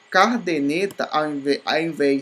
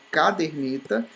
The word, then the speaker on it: caderneta: Cardeneta, em vez de caderneta, né?